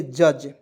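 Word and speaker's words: judge: जी ई तो इसका डी का इसमें जो है साइलेंट करेंगे इसे पढ़ेंगे जज ठीक है जज पढ़ेंगे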